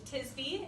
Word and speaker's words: Tisby: Hello, my name is Tisby. It's pronounced like a frisbee.